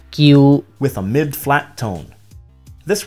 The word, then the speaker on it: 叫: This word meaning call is pronounced in Mandarin as 叫 with a falling tone. In Cantonese, it's 叫 with a mid-flat tone.